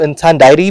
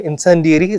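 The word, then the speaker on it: incendiary: बहुत सारे बोलने वाले इसको इंसान डायरी भी बोल सकते हैं, लेकिन इंसेंडियरी ज्यादा अच्छा एक्सप्रेशन होगा और ज्यादा अच्छा प्रोनाउंसिएशन में इसको बोलूंगा, क्योंकि फोनेटिक के अकॉर्डिंग हम लोग इसको जब देखने की कोशिश करते हैं तो इंसेंडियरी ज्यादा अच्छा साउंड करने की कोशिश करता है।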